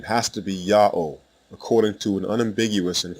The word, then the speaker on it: Ya'oh: the first letter yah the second letter ha is silent it assumes the sound of the previous vowel and closes the first syllable the third letter W